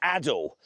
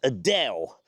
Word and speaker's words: Adel: It's a sort of a suburb of Leeds called Adel. Now, I once hilariously did a video in this area where I pronounced Adel as Adele, like that awful screeching uh popular singer.